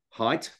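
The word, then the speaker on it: Haidt: an utterly brilliant talks I look up Jonathan height it's spelled h AI DT um he's a New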